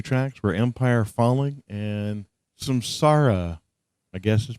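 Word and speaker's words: Samsara: the last two tracks were Empire falling and Sam Sara I guess is pronounced is that correct Nathan that is correct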